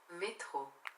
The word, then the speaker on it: métro: Alexa, como se fala metrô em francês? Metrô, em francês é métro.